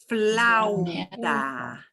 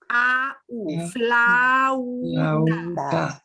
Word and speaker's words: flauta: We're going to pronounce each vowel. Flauta. Loud. Flauta. Sometimes and u are right next to each other, and we pronounce them both. Flauta.